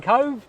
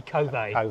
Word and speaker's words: Kove: I think most people are saying Kove, but officially it should be Kove.